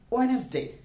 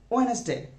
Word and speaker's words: Wednesday: of students say wait next day it's actually wednesday it's actually wednesday look at this honest day wednesday a pronunciation wednesday here next one is thursday lots